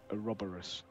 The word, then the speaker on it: Ouroboros: Well, the This unit believes that's pronounced Ouroboros.